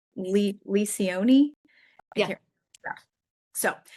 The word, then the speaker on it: Lencioni: I always pronounce his name wrong. Lencioni.